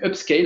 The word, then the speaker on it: upscale: Donc, upscale, hein, comme ça se prononce, UPSCALE.